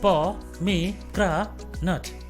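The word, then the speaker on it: pomegranate: इसको 4 सिलेबल्स की मदद से सही प्रोनाउंस कर सकते हैं, जो है पॉमीग्रेनेट, पॉमीग्रेनेट, पॉमीग्रेनेट।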